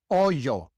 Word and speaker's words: hoyo: Hoyo. It is not oyo. It is oyo. A very slight J sound.